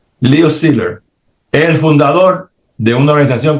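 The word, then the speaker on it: Szilard: Biden había un comunista que se llamaba Leo Steer se escribe S T I L A R D leo Siler el fundador de una organización que se llama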